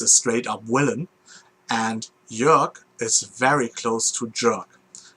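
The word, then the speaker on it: Jörg: is called york and it is spelled j uh one of the famous german umlauts uh rg and uh if you if you listen to the sound of it jerk and the character is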